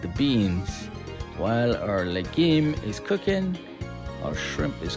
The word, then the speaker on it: legume: So, while our legume, it's pronounced legume, but it's spelled legume like the beans. While our legim is cooking, our shrimp is going to be marinating and we're going to add that later on.